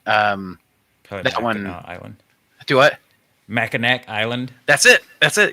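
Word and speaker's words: Mackinac: that Island do what macac island that's it that's it yeah somebody um know you're not from Michigan because it's spelled maak but you say maau well I was goingon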